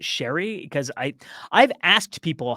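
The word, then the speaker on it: Cherie Chung: I want to say, just my gut is telling me to say Cherry Chung. Okay. Although I pronounce it Sherry because I've asked people, "How do you say her name?"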